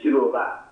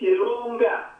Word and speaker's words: Chilunga: Yes, the name that you are pronouncing is not Chiluba. Mkwai. It is Chilunga.